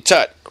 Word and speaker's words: Tut: Tut was an Egyptian, Tut rhymes with butt, okay, all right, got it.